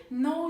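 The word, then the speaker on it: know: olarak bilmek ifadesidir ama ben Bunu telaffuz ederken İngilizcede k harfini ifade etmem yani telaffuz ederken kıno değil no şeklinde ifadelerim Mesela ben seni tanıyorum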